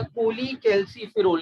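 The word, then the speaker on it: cholecalciferol: Vitamin D की, उसको हम विटामिन D3 या कोली कैल्सीफेरोल, कोल कैल्सीफेरोल भी कुछ लोग कहते हैं, अब थोड़ा सा मॉडर्न प्रोनाउंसिएशन कोली कैल्सीफेरोल के नाम से भी आ गया।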